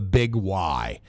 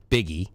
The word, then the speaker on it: Big Y: grew up called the Big Y. First of all, you look at it and you're like, okay, Biggie, right? I mean, B-I-G-Y. How do you pronounce that? Biggie, but no, it's Big Y.